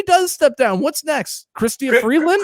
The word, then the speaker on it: Chrystia Freeland: Chrystia Freeland, as she made it clear, that is how she pronounces her name.